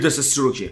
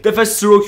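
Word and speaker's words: Deathstroke: برای خود بتمن شمشیر دث استروک دف استروک یا همون دث استروک آقا منو نیاید بزنید جفتش تلفظش یکیه خیلی ویلن بزرگی برای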